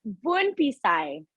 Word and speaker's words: Bounphisay: Can you please pronounce it for me? It's you're not the only one. It's Bounphisay.